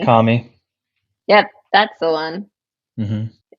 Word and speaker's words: Murakami: Lately, I've been listening to that Japanese writer that Jeremy always has to correct me on pronouncing his name, Haruki Harukami. Murakami.